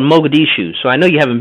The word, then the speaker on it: Mogadishu: ops wait wait hold on hold on what's maguchi it's called Mogadishu so I know you haven't been there because you can't spell it right so you up here okay I